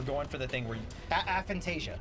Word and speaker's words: aphantasia: I think we're mispronouncing it, but we're going for the thing where Aphantasia. aphantasia. Yeah, you said apophasia.